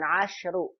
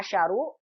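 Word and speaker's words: عشر: Kalau muzakkar kita baca asyru. Kalau muannas dibacanya asyarah. Sinnya berharokat. Jangan kebalik. Nanti asyrunya dibaca asyaru. Asyarahnya dibaca asyratu. Salah ya. Perhatikan nih. 10 memang beda antara muzakkar dan muannasnya. Kalau muzakkar shinnya sukun asyru.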